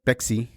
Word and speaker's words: Pepsi: a Mexican Pepsi because it's not even Pepsi it's pexi that's how you say it how do you